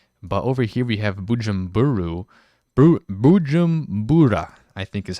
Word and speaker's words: Bujumbura: But over here we have Bujumbura, I think is how you say it.